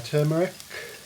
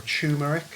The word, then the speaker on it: turmeric: we're going to add our turmeric or tumeric is some people pronounce it our salt and